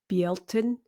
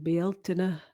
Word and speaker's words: Bealtaine: So the next festival is anglicized to Beltane, but is actually pronounced, well, Bealtaine for the Scots and Bealtaine for the Irish.